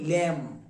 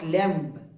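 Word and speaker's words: lamb: এর উচ্চারণটা এর উচ্চারণটা হবে। কাকে বলি? ভেড়ার বাচ্চা আমরা ভেড়ার বাচ্চাকে কি বলি ল্যাম্প বোঝা গেল নট ল্যাম্প clear clear okay তাহলে এখন পর্যন্ত আমরা পেলাম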